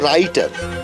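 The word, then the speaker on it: writer: করো যে ওই যে রাইটার হ্যাঁ লিখতে গেলে প্রথমে এসে ডব্লিউ কিন্তু উচ্চারণ যখন করো তখন কি ডব্লিউ আসে আসে না এটা ছেড়া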